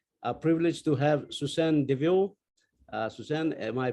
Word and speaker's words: Deveau: very much we are privileged to have susan devious suzanne am i pronouncing your surname properly yes just double devil